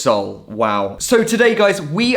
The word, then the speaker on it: Seoul: lullaboes city exclusives yeah i've been pronouncing this place seoul for probably the past two years it's seoul it's just soul wow so today guys